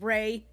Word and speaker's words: Rei: Alright, her name is Rei. In the game, she puts it's still Rei, except it's R-A-E, so still pronounced the same, just different spellings.